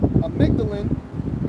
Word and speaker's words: Amygdalin: It says since the early 1950s, both, sorry, how you pronounce it again? Amygdalin and a chemical derivative named Laetrile have been promoted as alternative cancer treatments, often under the Mishnah vitamin B17.